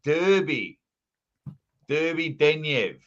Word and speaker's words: Derbedenyev: Yeah, you got to say Derby Denyev, where I used to say Derbedenyev. Derbedenyev.